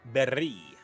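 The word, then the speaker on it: Beri: right now also guys it's not spelled like Barry from Pokemon it's b-e-r-i please God it's very oh like the currency in one piece okay you could go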